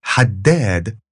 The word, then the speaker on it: haddad: And this is haddad rather than haddad.